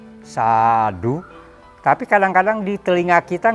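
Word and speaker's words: sādhu: Kalau berdasarkan penulisan Pali dan membacanya, maka A-nya A panjang. Jadi sadu, sadu. Tapi kadang-kadang di telinga kita nggak enak. U-nya terlalu ditekankan. Jadi orang bilang sadu, sadu.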